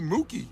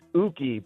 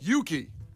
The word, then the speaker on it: Yuki: And competing today will be Mookie checking in from Hoffman Estates. Mookie, tell us something about yourself. It's actually pronounced Uki, Brian, U-K-Y. Oh, Yuki.